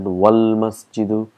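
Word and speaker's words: والمسجد: Wal masjidu, if you see here, it's hamzatul wasl, so we've got to put all our knowledge here. That's why we pronounce it wal masjidu ba'idun, and all we have, and that's a huruful qamar.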